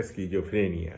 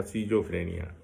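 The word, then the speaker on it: schizophrenia: उसके बाद डिप्रेशन हो जाता है, फिर न्यूरोसिस होता है, फिर ऑब्सेसिव कंपल्सिव न्यूरोसिस, और बाद में स्किज़ोफ्रेनिया या सीजोफ्रेनिया, दोनों उच्चारण।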